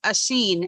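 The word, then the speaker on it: Oisín: Oh, sounds like Ocean, I guess. Yes, but yeah, it's spelled that way, but it's Oisin.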